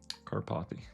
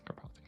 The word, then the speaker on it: Karpathy: Karpathy pronunciation. I want to butcher your name every time. Karpathy. Karpathy.